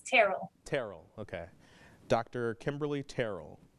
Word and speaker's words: Terrell: me just so i can make sure i pronounce it right sure it's terrible terrible okay dr kimberly terrell yes yep can